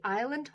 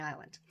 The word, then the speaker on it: Isla: opening up on the island. And this is the story of a woman by the name of Isla, I-S-L-A, I think is how you say her name.